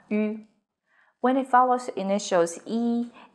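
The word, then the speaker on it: 一: tone in boo hao e as in number one is pronounced as e but in young it becomes the second tone in ET it's the fourth tone seems very confusing right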